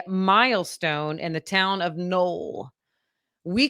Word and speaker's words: Noel: Null is known as a Christmas city because it's spelled Noel. N O E L.